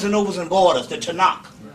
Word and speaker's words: Tanakh: right in barnes and nobles and borders the tanakh it's it's pronounced t-a-k-a-n-a tanak it is pronounced takana in english with the way it looks but it's pronounced to knock and it's an old testament it's this dick